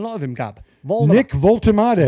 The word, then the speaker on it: Woltemade: How do you pronounce this boy's name? I've not seen a lot of him, Gab. Nick Woltemade. Woltemade.